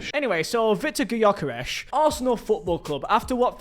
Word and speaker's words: Gyökeres: In Swedish, it's pronounced as Victor Yokesh. Victor Yokesh. Anyway, so Victor Gokesh, Arsenal Football Club.